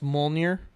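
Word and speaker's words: Mjölnir: choices that the beer alright DJ and it's pronounced mole near oh no II accept it okay alright alright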